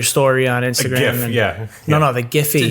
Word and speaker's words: GIPHY: GIPHY. Yes. I'm very happy you said Exactly. Giphy, not Jiffy. Jiffy. That's peanut butter.